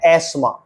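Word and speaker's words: asthma: doubt Reagan बपर Wednesday नहीं है यह है एस्मा दवा एयर उत्तराधिकारी आईलैंड टापू डाउट शक रेन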